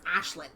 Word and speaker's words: Aisling: I don't know if that's the intent here, but my friend said, no, it's not Aisling, it's Ashlyn.